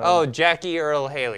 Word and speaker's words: Jackie Earle Haley: Jackie Earle Haley.